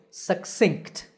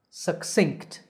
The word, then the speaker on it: succinct: again success similarly succinct notice in the spelling of this word that there is an extra c right at the end before t so the second syllable here is synced with a k sound succinct by the way